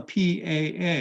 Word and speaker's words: PAA: Now, we all used to fly Pan American Airways, and but in Hawaii, when you saw the PAA, you pronounced the pa'a.